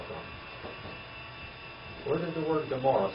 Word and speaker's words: Gomorrah: Where did the word Gomorrah, since it's Amorah here, where did we get the word Gomorrah? Where did the word Gomorrah come from, the pronunciation of Gomorrah? Where in the origin originated? The Septuagint. I found LXX right there. The Septuagint. That's where it came from. It did not come from the Hebrew.